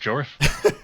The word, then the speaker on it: Jorf: If you saw my channel, you know Jorf is pronounced Jorf.